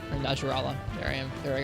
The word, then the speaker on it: Najarala: I have heard the horrors of Apex title Najarla. Or Najarala. There I am. There I go again. Najarla. Thought we'd gotten rid of that pronunciation.